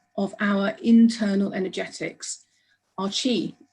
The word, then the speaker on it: qi: body to include hormonal balance the concept of chi spelled q i but pronounced qi lies at the very heart of